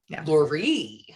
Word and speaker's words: Loree: name right laurie yeah accent on the last part kind of like marie so lori laurie great and you have